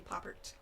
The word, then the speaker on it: Pouppirt: Pouppirt is, but I don't know if that's the correct French pronunciation. I'm sure it's fancier, but we just say Pouppirt.